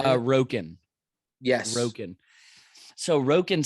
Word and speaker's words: Roken: Roken.